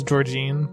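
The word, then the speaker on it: Georgeann: Because it's spelt this way, but I think it's Georgine. Okay.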